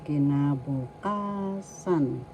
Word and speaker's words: kinabukasan: Future in Tagalog is kinabukasan. Kinabukasan. First syllable key. Second syllable na. Third syllable bu. Fourth syllable ka. Fifth syllable sun. So the accent is in the fourth syllable.